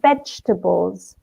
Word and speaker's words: vegetables: pronunciation ooh fruit okay also vegetables bench tables okay it's just a tough in the middle vegetables vegetables or fruit like zoo I